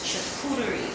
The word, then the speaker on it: charcuterie: But the actual pronunciation is charcuterie board. Oh, yes, it's charcuterie, because I was saying I wasn't saying the right thing.